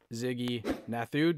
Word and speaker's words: Ziggy Nathu: uh recent winners on so uh this is ziggy nathu did i pronounce that right ziggy yeah you got that